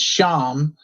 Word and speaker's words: Shyam: for the pronouns and it's sham the y is a consonant which is barely pronounced uh and i i don't pronounce it and that's probably not absolutely correct but shawn but with an m is how i how i introduced the pronunciation and then how do